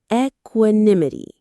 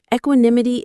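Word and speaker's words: equanimity: Let's practice its smooth flowing sound. Equinim. Equinimity. The stress is on that third syllable. Nim. Equinimity. Equinimity is a noun.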